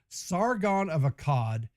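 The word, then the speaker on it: Sargon of Akkad: Sargon of Akad.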